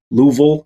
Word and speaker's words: Louisville: Sorry, Louisville. Got to say it correctly.